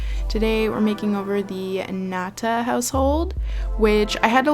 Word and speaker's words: Ngata: it was pronounced like angada or something but I guess the G is silent anyways this is actually